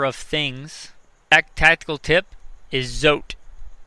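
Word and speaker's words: Zote: any other number of things tactical tip is zot it's a soap it's spelled Z z o te I believe it's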